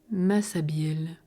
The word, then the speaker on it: Massabielle: Béout et des espéluges, dénommés en patois Massabielle, qu'on prononce aujourd'hui Massabielle, c'est-à-dire masse, vieille.